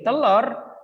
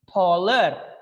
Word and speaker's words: taller: Bukan jadi telur, tapi taller.